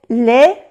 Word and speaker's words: les: Vous savez, vers, no se pronuncia la S, vers les, no se pronuncia la S, les. Ah, bueno, aquí sí se pronuncia porque le sigue una vocal, vers les intestins.